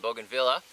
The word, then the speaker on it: bougainvillea: on edibles but I bought my wife's in Bougainville a-- Bougainville yeah it's impossible to spell it's impossible to say don't even try it's bougainvillea so I got some booking via and there's three different varieties here which we